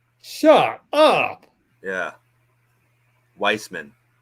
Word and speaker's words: Wiseman: for the longest time I called him James Wiseman and it was apparently actually subtly uh Weissman shut up yeah Weissman not Wiseman no yeah